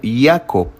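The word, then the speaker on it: יעקב: en toda la Biblia Jacob en hebreo es más bien pronunciado como hiaco o hiaco pero en latín el idioma religioso pues más común por casi 10 ciclos 10 siglos perdón el nombre era yacobus Y por supuesto al ser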